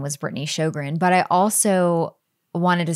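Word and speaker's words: Sjogren: to be going by my last name is shogran and it's spelled SJ o g r and that's a hard name to like it does not look like it doesn't sound like it's spelled and so I didn't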